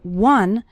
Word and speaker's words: one: minutes a day finishing one short activity the word one starts with the W sound okay some students pronounce it like on but that's not correct it's one one short activity and the